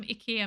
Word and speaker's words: IKEA: It's like when I learned that IKEA is actually pronounced Ikea.